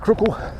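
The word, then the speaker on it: Crookwell: Crookle, C-R-O-O-K-W-E-L-L, comes out Crookle.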